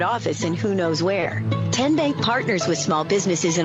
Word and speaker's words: TN Bank: arena in a moment how do you say the name tn bank no tin bank so what is it ten bank ten as in tennessee right here where all